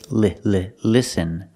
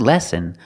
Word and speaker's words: listen: think he means listen the word is pronounced with you short is sound like this is listen make the sound listen not lesson lesson is something completely different but listen you can